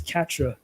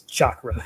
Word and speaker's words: chakra: It's Katra, No, it's chakra, not Katra.